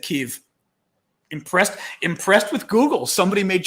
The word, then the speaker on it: Kyiv: Kyiv, and it responded to me and said Kyiv. Impressed with Google. Somebody made sure Google knew the right way to pronounce it.